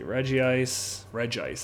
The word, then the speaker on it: Regice: Regice, that's how it's pronounced.